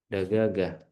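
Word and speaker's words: دجاجة: Dajajah dagagah. Tulisannya dajajah tapi bacanya dagagah.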